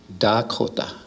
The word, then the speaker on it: Dakota: And to the east of us, across the Missouri River, they speak with a D, Dakota. And to the north across the Missouri, there's the Nakota, they talk with an N.